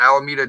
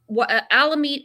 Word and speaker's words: Alameda: So Alameda, am I saying it right? Alameda County? Yeah, Alameda.